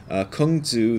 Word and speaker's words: Kung Tzu: Kung Tzu, that's another way of pronouncing Confucius, and Lao Tzu, again the founder of Taoism, have never had such virtue.